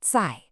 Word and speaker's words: 在: And this word is 在, pronounced 在.